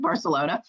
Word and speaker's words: Barcelona: the marketplace for example like in barcelona as they pronounce it barcelona and you'll go shopping